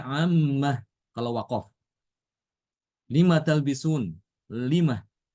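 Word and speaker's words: عَمَّ: Fima FIM mimma Khuli jadinya mimmah Amma yatasaalun dibacanya ammah kalau wakaf lima talbisun lima Bima yarjiul dibacanya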